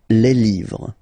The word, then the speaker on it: les livres: Les, and then same rule, you just write livre, and then you put S at the end, but then you don't pronounce it. Les livres.